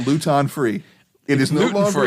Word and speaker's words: Luton: the joke is not Luton free it is no longer a joke if you don't pronounce luten Luton because that rhymes with gluten and gluten-free is like